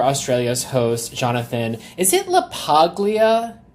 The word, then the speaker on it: LaPaglia: Is it LaPaglia? LaPaglia. So you don't say the G. The G is silent.